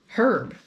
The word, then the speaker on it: herb: thing is growing up i always said herb because there's an h in it and as far like i don't know of any american word beyond that one where the h is silent and i remember being